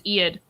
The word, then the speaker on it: Ead: really big orange tome this is iaid i think that's how you say her name it's e-a-d and she's awesome when